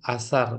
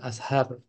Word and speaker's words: asar: wudu asar Nah itu harusnya bilang asar bukan Ashar kayak gitu ya jadi